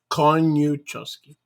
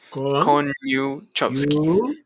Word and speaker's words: Koniuchowski: My name is three or four syllables. Meu nome são só 4 sílabas. Koniuchowski. Koniuchowski. 3 syllables. It looks intimidating, but it's easy to say.